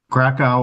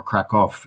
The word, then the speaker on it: Krakow: Krakow, or Krakow as it's pronounced in Polish, is quite far south in the country.